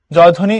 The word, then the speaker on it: জয়ধ্বনি: জয়ধ্বনি, এটার উচ্চারণ হবে জয়ধ্বনি। তো জয়ধ্বনি বললে দেখো এখানে জয়ধ্বনি লেখা, তো ধ্বনি না, হবে ধ্বনি। তাহলে এটা হলো জয়ধ্বনি, সো এটা হলো সঠিক উত্তর।